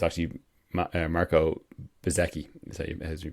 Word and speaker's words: Bezzecchi: The guy whose name, who I hadn't heard of and couldn't pronounce correctly last time, it's actually Marco Bezzecchi, as you pronounce it.